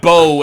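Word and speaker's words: bough: Now, how do you pronounce bow as in like a bow of holly?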